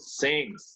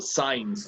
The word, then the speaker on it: since: How do you say in English desde? Sí. Yes, very good. Since. That's the correct pronunciation. How are you not supposed to pronounce desde in English? How are you not supposed to pronounce it?